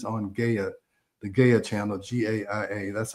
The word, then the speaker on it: Gaia: There's a series on Gaia, the Gaia channel, GAIA, that's how I pronounce it, Gaia, that's called Inner Evolution.